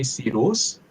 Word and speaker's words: Cyrus: I was trying to remember in in Persian they have two versions of that. They say sirus.